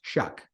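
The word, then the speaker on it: Shough: okay it's some people's h-o-u-g-h but it is pronounced shuck and I feel like every year we go back and forth and I was like I was on the impression that I shook but anyways he has not played a full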